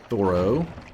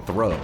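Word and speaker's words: Thoreau: Thoro. Thoro. It's not like you guys are saying thorough.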